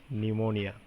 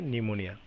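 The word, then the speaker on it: pneumonia: Doctors called him নিউমোনিয়া, এবং ডাক্তারি ভাষাতে তারা কওয়া হয় নিউমোনিয়া। নিউমোনিয়া স্পেলিংটা একটু অন্যরকম, তোমরা দেখে নিও সবাই। নিউমোনিয়া, পি সাইলেন্ট, এখানে প্রনাউন্সিয়েশনে পি সাইলেন্ট, পির উচ্চারণ হয় না, এন দিয়ে শুরু হয়। সেকে নিউমোনিয়া।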